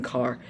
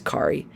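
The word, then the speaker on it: Karre: carr and or kari i keep saying car kari because it's spelt k-a-r-r-e so i'm thinking like car but no i think it's kari anyways kari and his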